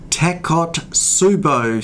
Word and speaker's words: Takotsubo: today I'm going to discuss a condition called tack hot subo syndrome and that's a heck of a mouthful it's spelt Tak Oh taco to subbu T s